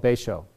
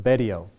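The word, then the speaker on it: Betio: And in the bottom left corner is this little tiny island called Baisho or Bedio. People pronounce it differently.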